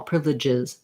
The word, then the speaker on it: privileges: Privileges, jizz. You want to almost go right from the J to the Z sound, and just there's a little bit of vowel to connect the two.